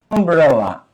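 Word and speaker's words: umbrella: কিন্তু যখন তুমি এই শব্দগুলা বলতে যাচ্ছ, দেখো আমব্রেলা, আ, তখন ইউ ইউ না, আ, আমব্রেলা। এখানে ইউজফুলে ইউ এর উচ্চারণ এরকম ছিল, ইউ ইউ, কিন্তু আমব্রেলাতে আ হয়ে গেছে।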